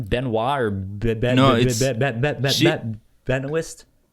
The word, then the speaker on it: Benoist: I don't know how to say her last name, Benoit or No, it's- she- Benoist? She at least pronounces it like as Benoist without the T. Benoist.